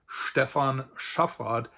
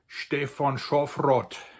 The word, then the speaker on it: Stephan Schaffrath: So for instance, my name which in standard German is pronounced Stephan Schaffrath in Bavarian would be StephÅ n SchÅffrÅth.